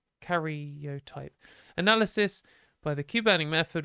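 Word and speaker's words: karyotype: 50 counted cells had 46 chromosomes uh the carot type sorry I've been saying it wrong cotype analysis by the Cuban method revealed her sex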